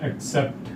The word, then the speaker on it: accept: Rule number 2 के according यदि letter double C के बाद ई या आई लगा हो, तो यहाँ पर डबल सी का जो उच्चारण होता है वो क और स के कॉम्बिनेशन में होता है।